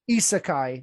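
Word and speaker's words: isekai: correctly um a seeker as well asaka isakai isakai there we go isakai genre um again of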